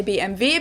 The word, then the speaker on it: BMW: In English, people say BMW. In German, we say BMV because W is pronounced V in German and it stands for Muran, which means Bavarian engine works.